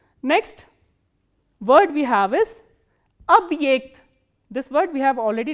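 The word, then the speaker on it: объект: And this ye is pronounced as the combination of these two sounds, e kratke and a.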